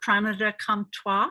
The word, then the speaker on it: Pranada Comtois: I'm interviewing today my very dear sister, Pranada Devi Dasi, or Pranada Comtois. Is that pronounced correctly?